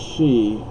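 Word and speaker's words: sidhe: folk, the wee people, it's pronounced she, but it's written in Irish, so it's not S-H-E, it's a different spelling,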